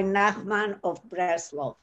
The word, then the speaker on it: Nachman of Breslov: I don't know how you pronounce Nachman Breslow. Rabbi Nachman of Breslov.